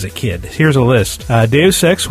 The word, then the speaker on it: Deus Ex: Deus Ex was Deuce Ex.